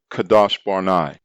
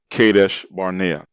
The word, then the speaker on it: Kadesh Barnea: terrible piranha wilderness northward to kadash barnai mispronounced kadesh barnea which is located in